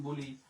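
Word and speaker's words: blanc: সাদার ফরাসি হচ্ছে ব্লং। এখানে কিন্তু আমরা সের উচ্চারণ করি না।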